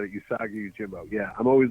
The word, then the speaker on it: Usagi Yojimbo: Jambio? Usagi Yojimbo? There you go. You said it. Usagi Yojimbo.